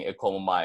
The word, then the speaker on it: e komo mai: So it's going to be e, komo, and then mai.